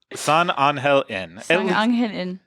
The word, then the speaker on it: San Angel Inn: How is the pronunciation on that, Erica? San Angel Inn.